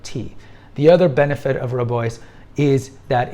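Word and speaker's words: Rooibos: for dessert tea would be Robo or red tea or rubo rubos as we mispronounce it and we have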